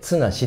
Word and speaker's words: 十: いうんですけど読み方が一つ二つ三つ 4 つ 5 つって数えてって糖だけ 1 つ 2 つの綱がついてなくてなんでこの漢字の 10 だけでツナシって読むんですでこれ